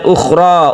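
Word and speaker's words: أخرى: Kemudian ukhra. Ukhra, jangan membuatnya terlalu panjang. Hanya ada satu Alif.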